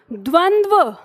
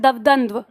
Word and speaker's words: द्वंद्व: कि शब्द है आपका, इसका उच्चारण क्या है, द्वंद्व, ठीक है, द्वंद्व, व बाद में अंत में। और ये ऐसे लिखा आता है अब आपकी परीक्षा में, ऐसे, और बच्चे इसको पढ़ते हैं दवदंद्व।